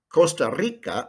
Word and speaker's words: Costa Rica: el salvador honduras nicaragua costa rica oh listen to that trill that is so spanish panama cuba republica dominicana